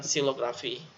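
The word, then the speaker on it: xilografi: X kalau di posisi awal juga diucapkan sebagai S. Contoh adalah Kari, itulah pembaca Al-Quran, dan silografi. Silografi adalah seni grafika di pembuatan cukilan atau ukiran kayu. Silografi mulai dari X, dengan X, jadi kita ucapkan sebagai silografi, bukan silografi.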